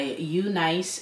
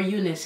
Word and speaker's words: UNice: wig is provided by you nice hair I can finally say it right or Eunice here I like you